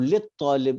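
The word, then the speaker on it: لِلطَّالِبِ: अब लित तालिब इसको पढ़ेंगे, लाम को तो के साथ मिलाएंगे, यहाँ पे अलिफ साइलेंट हो जाएगा, तो लित जी तालिबी।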